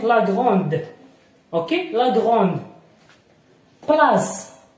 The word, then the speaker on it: place: Place. P, la, s. Ok, place. Ok, هذا سينطق الحرف اس.